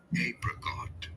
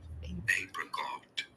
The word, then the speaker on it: apricot: One is the British English pronunciation where it is said as apricot. Apricot. You do want to stress on the first syllable.